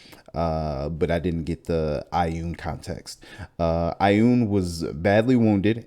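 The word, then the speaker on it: Ioun: Built a long time ago to the goddess of knowledge, Loon, Laun. Oh, you're gonna pronounce Ayun.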